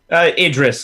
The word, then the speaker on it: Idris: Idris, like Idris Elba.